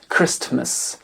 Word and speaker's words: Christmas: whistle Noël se dit Christmas Christmas et non pas Christ Christmas mais Christmas et on termine en